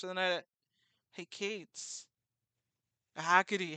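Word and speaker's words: Hecate: I just crashed the night at hey Kates hacky hackes sorry I keep forgetting how to say it correctly and then I was like oh wait no hacky hacky I drank too much last night and needed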